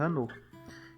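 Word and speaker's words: חנוך: Enoque em hebraico se pronuncia Hanor.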